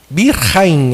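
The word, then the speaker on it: ברכיים: Joelhos em hebraico é birraim. Birrahaim. É meio difícil essa pronúncia que é um ch com semelhante à pronúncia do alemão do ch.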